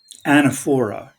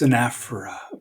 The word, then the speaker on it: anaphora: to write down here and this is not pronounced anaphora it's an afra beautiful greek word anaphora